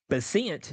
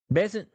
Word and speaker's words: Bessent: Treasury Secretary Scott uh, Bent, is that how you say his name? Bessent.